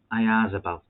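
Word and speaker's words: Oyarzabal: there's a young vlad at sociedad called mikhail ayazabal then that's how you pronounce his second name i isabelle um i've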